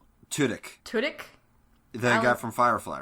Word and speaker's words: Tudyk: How do you pronounce this actor's name? Alan Tudyk? Tudyk.